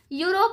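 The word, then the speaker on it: Europe: यूरोप।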